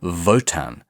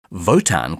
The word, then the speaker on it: WOTAN: yes sorry i forgot you have to pronounce it in a german accent to really hammer home the nazi metaphor the machine is called votan spelt with a w votan can think for itself